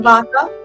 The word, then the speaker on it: Vater: Mein Vatername B Vater is pronounced as F.